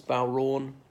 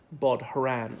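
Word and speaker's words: bodhrán: very much anymore as bow wrong as in that's a special musical instruments okay it's got um a D H in the middle so a lot of people who are not Irish pronounce it bought her an well how are they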